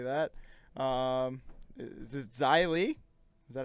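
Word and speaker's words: Xia Li: know how to say that um is this zylie is that how you say it yeah okay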